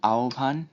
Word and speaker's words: আহ্বান: হ এর সাথে ব যুক্ত হলে হ সমান ও বা উ এবং ব সমান ভ হয়। যেমন আহ্বান, বিয়োভল, জিহ্বা ইত্যাদি শব্দের হয় বয় সংযুক্ত।